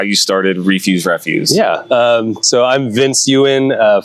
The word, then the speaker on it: Refuse Refuse: It's Refuse Refuse, but that's okay.